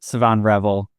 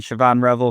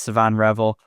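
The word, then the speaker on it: Shavon Revel: in the first round, my dream scenario is Savon Revel. And first of all, I'm told that's how his name is pronounced from people a lot smarter than me. I've been saying Siobhan Revel for a long time.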